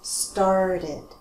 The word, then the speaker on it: started: Now we have an extra syllable because these verbs end with a T or a D sound, right? Mm-hmm. Not start, but started, mm-hmm.